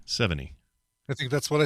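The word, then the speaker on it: Chloë Sevigny: okay now he'll say it for real chloe 70. 70.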